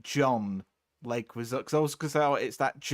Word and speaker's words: Leguizamo: He's actually called John Leguizamo.